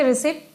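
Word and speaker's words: receipt: Silent बोलने से आपको समझ आ जाता है कि कौन सा साइलेंट है। ये उसे बोला जाएगा रिसिट और इससे बोला जाएगा क्या?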